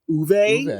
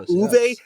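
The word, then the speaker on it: Uwe: I never say it out loud because most people think it's u but it's actually Uve is how Yeah, Uve.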